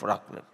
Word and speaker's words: raclette: Raclette is raclette, so an Indian version of raclette. Is it 'racle' or 'raclette'? Mridulaben? The 't' is pronounced, right? Yes, okay. So 't' is not silent.